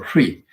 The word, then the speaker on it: Hri: On top of mundis, then there's a syllable of the Singhanada, syllable Hri. In English, HRI Hri.